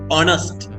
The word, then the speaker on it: honest: ඕ කියන h අකුරෙන් පටන් ගත්තම මෙතන h අකුර silent වෙනවා. honest.